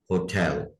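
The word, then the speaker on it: hotel: इसका तलफ़ुज़ होटल नहीं है, इसमें जो स्ट्रेस है वो दूसरे सिलेबल पर है, इसको हम पढ़ेंगे होटल, होटल।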